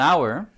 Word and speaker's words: hour: look at right if you look at an hour the age and hour is silent so actually you're saying something like this